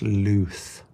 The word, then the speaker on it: lux: Yeah, actually, I'm liking Lux. From the Latin light. Oh, that's pronounced loose. Interesting.